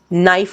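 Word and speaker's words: knife: नाइफ Gujarati मा चप्पू नाइफ का के साइलेंट है नाइफ हिंदी में छुरी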